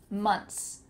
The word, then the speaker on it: months: My tongue is not between my teeth, like we usually do for a TH sound, months. But if you wanna include the TH, you might hear some people say that, months, months, months, and your tongue just flickers out of your mouth, months, months. But it's no problem to just throw that TH away.